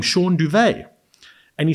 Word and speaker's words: Duwe: So, interesting, you know, my name, Shaun Duvet, D-U-W-E. That's how you say it, but that's how you pronounce it as well, Duvet, right?